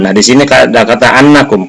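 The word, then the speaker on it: أنّ: Nah, di sini ada kata annakum. Kenapa dibaca annakum bukan innakum? Karena annakum di sini menjadi maf'ul bih daripada takhafun, ya, takhafuna.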